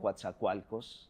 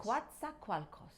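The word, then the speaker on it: Coatzacoalcos: was born in a very small town called quat qualos in Mexico you tried pronouncing that what's qua qualos quat qualos yes not bad that's and um and I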